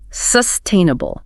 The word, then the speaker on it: sustainable: The stress falls squarely on the second syllable. Sustainable.